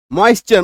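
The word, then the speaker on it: moisture: टी के बाद URE अगर आप जाएंगे तो क्रिएचर, इसको क्रिएचर भी बोलते हैं, क्रीचर भी बोलते हैं, बहुत प्रोनाउंसिएशन। पंक्चर, मॉइस्चर, मतलब टी के बाद URE, मॉइस्चर।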